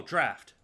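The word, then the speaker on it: draught: I don't think it's pronounced as drought, but I don't know how to pronounce it. Hold on. Let's find out how to pronounce it. I have the power of internet. Oh, draft. Draft.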